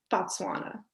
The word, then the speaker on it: Botswana: So for you growing up in another country, I just want to say, okay, let's say Bisnoa. Is that how you say it? Botswana. Botswana.